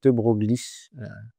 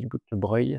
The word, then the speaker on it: de Broglie: Donc ça, c'est le résidence Louis de Broglie, même si on dit de Broglie, c'est Louis de Broglie comme ça s'écrit, voilà.